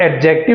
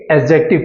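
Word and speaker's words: adjective: का उपयोग करते हैं इसे आप एडजेक्टिव नहीं पढ़ेंगे एडजेक्टिव पढ़ेंगे यहां पे डी साइलेंट है और दूसरा आपका वड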